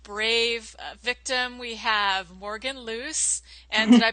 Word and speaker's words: Luce: for our first Brave victim we have Morgan loose and did I pronounce that right yes you did okay good